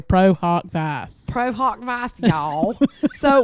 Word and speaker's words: pro hac vice: got the latin pronunciation i got the guy and he says pro huck vichai he's italian so he's got his sounded really good though like we're over here pro hawk fast pro hawk vice y'all